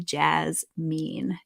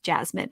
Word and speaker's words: Jasmine: skin camp program to jazz mean jasmine actually jasmine is how you say your name thank you i'm a